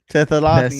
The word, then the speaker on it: Thessalonians: How do you pronounce this in English? The brothesalians. Thessalonians.